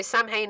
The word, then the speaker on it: Samhain: Yeah, so Samhain is Samhain. It's spelled exactly how Plink is pronouncing it there.